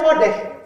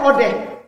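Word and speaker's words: אודה: kepada si si odeh ini nih bacanya odeh Alif V likud dalet he Ini bacanya odeh dari kata odeh inilah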